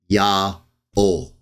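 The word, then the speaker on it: יהוה: in a moment, that the 4 letters, Yod, He, Wah, He, the full tetragrammaton, can be pronounced Ya'ol.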